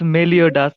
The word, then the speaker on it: Meliodas: But I think it's Melidash. Is Yeah, it? Meliodas. It's Meliodas.